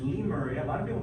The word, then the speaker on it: Lemuria: it's because the Lemurs were going back it's Lee Murray a lot of people mispronounce they say numeric right that's actually